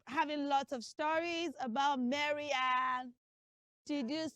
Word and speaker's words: Mary: Don't say Mary. Don't say Mary. Say Mary. Mary.